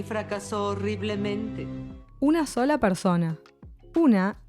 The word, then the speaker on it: fracasó: If it didn't have it, it would be pronounced fracaso and would refer to something with a bad result, a failure basically. But fracasó, with its ending accent, is the past second